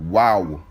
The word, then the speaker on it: Waw: The next letter will be Wa, or they have Waw, W-A-W.